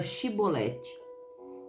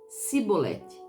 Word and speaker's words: chibolete: não dis disseram-lhe então diz agora chibolete e ele disse sibolete pois eles não conseguiam formular uma pronúncia correta então eles tomaram e